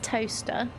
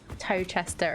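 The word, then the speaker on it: Towcester: how you spell it that's toaster and that's Beaver it's I I just find the pronunciations oh British towns really funny sometimes cuz you'd expect it to be tow Chester and Belvoir I've been corrected um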